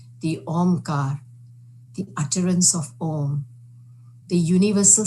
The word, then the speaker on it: Om: It comprises 3 sounds, A, U, and M, Om.